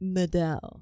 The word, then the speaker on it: Medel: I heard Medel. Yeah. Is that Medel? Medel. It's Medel. Medel. That's beautiful. Medel. Also, I'm just taking it.